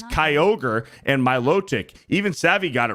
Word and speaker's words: Milotic: finally it's Kyogre and Milotic even Savvy got it right go hit the gym no Savvy Savvy did not pronounce Milotic right she said Milotic so anyway thank you